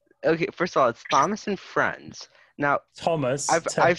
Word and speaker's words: Thomas: with a hitch and it's always just the T sound I'm it's just the T it's just a straight a sound so Thomas the Tank Engine is